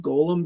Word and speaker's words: Golem: The problem is, I grew up with a lot of Jewish people, and they all pronounced it Golem because that's how it's pronounced in Hebrew.